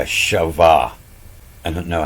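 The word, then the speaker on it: חַוָּה: you know that that's they say that's pronounced a shavah I don't know how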